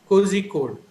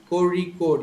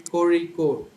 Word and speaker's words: Kozhikode: Most of them who are not aware of this sound will pronounce it as Kozhikode. So, but actually the sound is ra. Kozhikode. You're supposed to say Kozhikode.